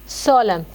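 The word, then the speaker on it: solemn: मतलब क्या लिखेंगे ए सोलम्न ठीक है सोलम एंड वेब साइलेंट हो जाता है यानी संजीदा ग्रेव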